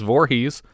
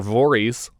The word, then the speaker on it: Voorhees: the first time with Mrs. Voorhees, or Voorhees, as she seems to be pronouncing her own name.